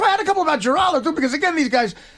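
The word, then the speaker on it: Giraldo: But, but seriously, the producer mispronounced Greg's name. He said Heraldo, not Geraldo.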